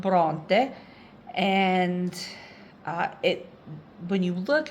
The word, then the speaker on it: Bronte: um but of course they don't pronounce it that way because our alphabet is pronounced differently but Bronte and in this town